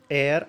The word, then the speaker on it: heir: इसके प्रोनाउंसिएशन को हमें देखना है, तो इसके प्रोनाउंसिएशन को हम देखें तो क्या आता है? एयर। मतलब यहाँ पर एच साइलेंट रहता है, जैसे और में, है ना।